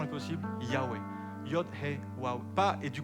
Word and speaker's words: Yahweh: Le nom le plus possible et la prononciation la plus possible, Yahweh.